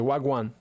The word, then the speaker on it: wagwan: It's basically saying going on. So if they say what's going on, they say wagwan.